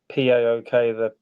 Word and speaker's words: PAOK: The PAOK, it's pronounced PAOK.